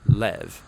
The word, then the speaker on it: לב: in this prayer heart which in Hebrew is sometimes pronounced lev or more often in a shorter form lev now different cultures throughout